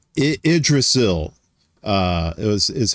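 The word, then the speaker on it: Yggdrasil: She said Idrasil uh was is how you pronounce that.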